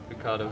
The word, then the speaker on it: Ricciardo: So, grew up in Australia, so I was like, well, you'd say it the English way, Australian way, so Ricciardo. Ricciardo, straight up, no accent, no get bullshit.